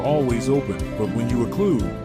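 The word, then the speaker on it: occlude: open but when you olude rhymes with exclude they are unwelcome and hence the gates are shut or closed on them olude sounds like conclude up clude shut close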